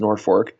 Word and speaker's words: Norfolk: to a town called Norfork Nebraska it's spelled like Norfolk Virginia but it's pronounced Norfork and uh I pretty